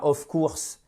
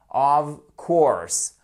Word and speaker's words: of course: la prononciation c'est pas of course of course le of ici se prononce comme un ve of courser et avec